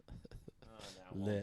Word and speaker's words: lit: Let's get lit. Lit. Turn on. I don't know if you're gonna get a light today. Lit. I guess not. Would you say lit? You're not supposed to pronounce the T.